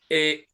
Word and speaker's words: Mulan: It's Mulan.